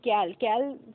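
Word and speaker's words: kale: Soybean का तेल, है ना, ब्रोकली या फिर कैल फ्रेंड्स, आप कैल या ऐसे काले भी बोलते हैं फ्रेंड्स, इसका प्रोनाउंसिएशन आप आपके हिसाब से कर सकते हैं।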